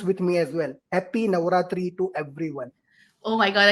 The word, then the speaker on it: Navaratri: n to everyone and yes if you can pronounce with me as well happy navaratri to everyone oh my God I cannot pronounce